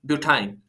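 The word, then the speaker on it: butyne: इसी तरीके से अगर जो है ट्रिपल बॉन्ड होगा कार्बन कार्बन के बीच में, तब आप जो है उसको प्रोनाउंस करोगे इथाइन, प्रोपाइन, ब्यूटाइन।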